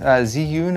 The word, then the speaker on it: Zhiyun: Yeah, so this is a Zhiyun, Zhiyun I believe is how it's pronounced.